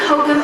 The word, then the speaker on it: Hohokam: These people were the Hohokam Indians, pronounced Hokum Indians.